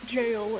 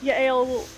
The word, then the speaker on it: Yael: Or Jail, if you want to pronounce it American-ish. But Yael, what she was essentially was happening.